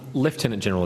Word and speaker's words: Lieutenant General: Lieutenant General is the correct pronunciation, isn't it?